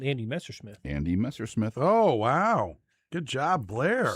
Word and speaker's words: Messersmith: A lot of people think it was Messerschmitt. It's Messersmith. Messersmith.